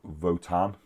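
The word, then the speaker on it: Votann: and the Leagues of Votan.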